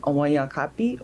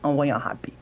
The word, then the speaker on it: Awanyankapi: You can make a K sound, Awanyankapi, or a G, or like an H sound, which on paper it's a G, Awanyankapi.